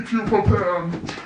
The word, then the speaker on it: pupa pan: Be pupa pan! That's how it's supposed to pronounced. I don't care. I thought it's like papa or something. No, pupa was no.